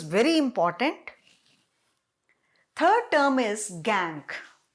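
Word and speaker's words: gangue: important third term is gank spelling g-a-n-g-u-e gangu but we pronounce it as gang what is gang the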